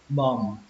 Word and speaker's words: bomb: Ở trong cách viết của nó thì nó có âm bờ phía sau, nhưng mà trong cách đọc thì chúng ta sẽ không đọc âm đó. Chúng ta sẽ kết thúc bằng âm mờ luôn.